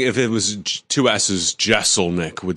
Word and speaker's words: Jeselnik: I asked you before we started, I wanted to make sure it wasn't Jeselnik and that people were mispronouncing this the whole time, because the Tom Thibodeau thing has me scarred.